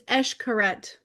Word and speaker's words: Xcaret: It's I can't pronounce Xcaret. I looked it up. It's Xcaret. Oh, Xcaret.